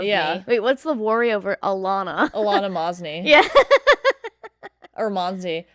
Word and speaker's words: Alaina: how it's spelled like people like when they see it they forget all the rules of letters they're like Aliana yeah like that's it it sounds how it looks when people see your